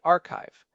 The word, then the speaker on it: arXiv: It eventually rebranded to RX using the Greek letter Kai for the X which is why we pronounce it archive.